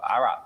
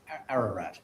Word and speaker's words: Ararat: half thousand feet up in the mountains of Arat. Is that how you pronounce it, Simon? Ararat.